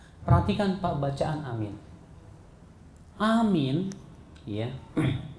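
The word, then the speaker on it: آمين: perhatikan bacaan amin Amin ya cara membacanya adalah A itu dua ketuk min itu bisa sampai 6 ketuk Amin begitu ya ada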